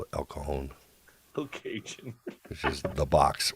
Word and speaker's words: El Cajon: socal we respected the latino heritage and we pronounce the things correctly we didn't call it al cajun we call it el cajon location this is the box or la mesa